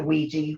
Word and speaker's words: Ouija: u i g a i pronounce it ouiji whether there's another way to pronounce it i don't know but it's always been ouija to me like w e e g e e luigi yeah yeah so